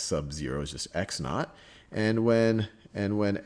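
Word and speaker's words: x₀: x value is x sub well this is pronounced x naught or you just x sub zero is just x naught and when and when x is x naught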